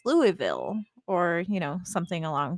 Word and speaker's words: Louisville: so like bell brought it up she's from louisville is how they pronounce it i can't forget the way they say it but to me when i see it i think it's louisville or you know something along those lines it's